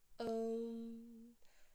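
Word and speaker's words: ॐ: a dot on top, which is an anusvara, which means the sound that comes through the nostril. It's a nasal sound. Om.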